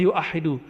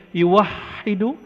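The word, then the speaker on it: يُوَحِّدُ: Tapi nggak ada orang baca yuahidu, tetap bacanya yuwahidu tauhidan.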